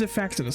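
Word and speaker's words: Xiphactinus: Is that how you pronounce it? Zifactinus? Zifactinus. Yeah, okay, it's Zifactinus.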